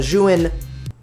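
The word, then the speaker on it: Zhiyun: I later bought the Zhuin, so this is the correct pronunciation for Zhuin.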